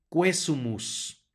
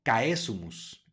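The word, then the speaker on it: quaesumus: concede sino concede luego tenemos una q seguido una u la u va a sonar Y tenemos un diptongo a enseguida que va a sonar como e por lo tanto esta palabra se pronuncia cuesmos no cae zumos la u suena y el diptongo se pronuncia como e más adelante Tenemos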